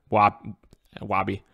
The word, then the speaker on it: Wabi: Wabi, Bobby. It also rhymes with me as well.